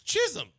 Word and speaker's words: Chisholm: Jazz Chisholm? Come on, man. One, it doesn't sound good being broken up like that. And two, it's Chisholm.